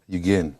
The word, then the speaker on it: Yugen: Now, Yugen, it's pronounced Yugen, or is it Yugen? Yugen.